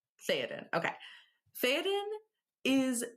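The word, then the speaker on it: Théoden: But the king, whose name you can give me one more time because I'm not confident pronouncing it. Theoden. Theoden.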